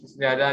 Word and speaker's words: Qi: तो आज का जो हमारा टॉपिक है वो है जी। इसको लिखा ऐसे जाता है क्यू आई, लेकिन इसको जो प्रोनाउंस करते हैं वो कहते हैं जी, और मेडिकल साइंस में इसको कहा जाता है ल्यूमुला।